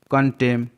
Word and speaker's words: contemn: कंटेम, CONTEMN, कंटेम, यहाँ पर भी M और N साथ में है तो N साइलेंट है।